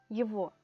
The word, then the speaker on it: его: a aprender " его" que se pronuncia "yevo" A pesar de que se escribe "YEGO" de nuevo solo una forma a aprender para el feminino её vamos a leer!